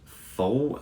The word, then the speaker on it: Pfohl: It's written by Nancy Bloom and Bruce Fohl, that's spelled Pfohl.